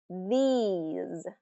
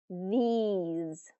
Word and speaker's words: these: out loud with me this this has that short I this versus these these has the long e e e these okay this these I